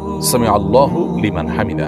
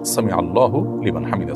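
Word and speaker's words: سمع الله لمن حمده: দেখুন সামি আল্লাহু সামি আল্লাহু লিমান হামিদা। এটি হল শব্দের সঠিক উচ্চারণ। সামি আল্লাহু লিমান হামিদা।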